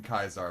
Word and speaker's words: Caesar: Actually, it would be really funny if I could take out the Caesar the Kai. I'm not I refuse to pronounce in Kaisar, by the way. I am not going to do that.